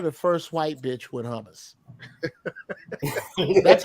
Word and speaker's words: hummus: Hummus. You got to get a little phlegm in your throat when you pronounce it.